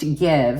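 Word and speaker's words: GXVE: I didn't remember this it's pronounced give and it's g x v e don't ask me how that spells give but it says so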